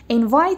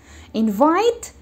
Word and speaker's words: invite: ends with T yes we add e at the end but we do not read it I'm talking about how